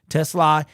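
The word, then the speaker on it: TeSlaa: Isaac Tesla, his the correct pronunciation is Tesla.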